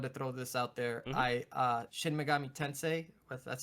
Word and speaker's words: Shin Megami Tensei: Shin Megami Tensei.